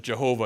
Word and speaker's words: Jehovah: you pronounce God's name this says yo ho bah and so that's how we get this medieval sense that God's name is Jehovah and that's where the term Jehovah comes from is from this pointing